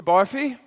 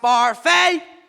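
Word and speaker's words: Barfée: Barfy? It's pronounced Barfay.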